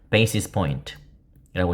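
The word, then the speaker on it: basis point: 베이시스 포인트라고 읽는 겁니다.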